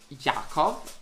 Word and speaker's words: Jakov: to pronounce my name, even though my name is written like Jakov, like with J at the beginning, it's pronounced like it's Jakov, like if the first letter is actually Y instead of J.